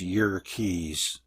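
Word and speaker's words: Yerkes: Dr W hiltner of JK's Observatory actually it's y Keys Wikipedia says to pronounce it that way y Keys Observatory found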